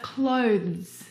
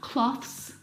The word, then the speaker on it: clothes: But clothes, clothes, not cloths, not clothes, and not clothes either. The difficult thing about the pronunciation of this word is the two consonant sounds v and z together. Both of those sounds are voiced consonant sounds.